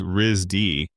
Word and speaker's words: RISD: The school, which everyone refers to as RISD and pronounces Rizdy, occupies a set of